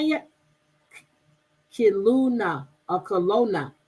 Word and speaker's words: Kelowna: Kaluna. Is that how you say it? Kiluna or Kelowna. Kelowna.